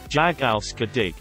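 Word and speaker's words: jag älskar dig: love you in Swedish jag al sadiq I remembered how to pronounce it by saying it as jog race car day for the rest of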